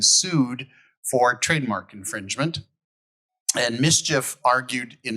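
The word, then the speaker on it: MSCHF: the first is uh Nike versus uh it's pronounced mischief product Studio it was a uh a case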